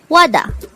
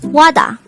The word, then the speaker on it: 와다: Wada. This is pronounced as a two-syllable word. The first syllable is wa, the second syllable is da. Pronounce it with me. Wada.